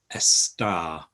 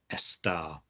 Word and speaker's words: estar: to use the verb estar which means to be to be a star is uh one way to remember it estar um and we also